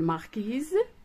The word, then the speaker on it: marquis: une marquise, un marquis avec la lettre S qui ne se prononce pas.